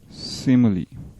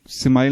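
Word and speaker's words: simile: लेकिन सिमाइल नॉर्मली हम पहले, मैं बचपन से बोलता सिमाइल, यार हालांकि गलत है। एक्चुअल इसका प्रोनाउंसिएशन सिमली है, लेकिन अगर मुझसे गलती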